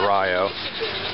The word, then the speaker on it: Rio: uh Meson FL and I'm in Rio Florida it's spelled Rio but they call it Rio um and it's kind of a standard size